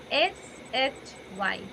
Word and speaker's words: shy: SHY. How do we pronounce the word SHY? Sai. Sai. It should be shy, not sigh.